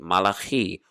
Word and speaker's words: Malachi: the minor prophet of malachi malachi or you might pronounce it as malachi 3 8 will a